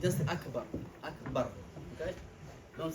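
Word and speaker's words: أكبر: It's Akbar, okay? It's not Akbar, it's not Akbar, see? That ba, you cannot double it and you cannot lengthen it. It's just Akbar, Akbar, okay?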